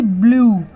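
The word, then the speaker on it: blue: हम क्या पढ़ते हैं बी एल यू ई ब्लू ठीक है यूई को उ पढ़ रहे हैं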